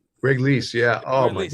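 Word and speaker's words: Greg Leisz: Correct me if I say his name wrong. Greg Lees. Greg Lees, yeah.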